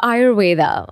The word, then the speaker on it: Ayurveda: A-Y-U-R-V-E-D. Ayurveda. Okay. So Ayur means life and Veda means science.